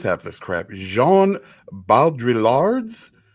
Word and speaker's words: Baudrillard: Jean Baudrillard's. You don't pronounce the L's. Baudrillard.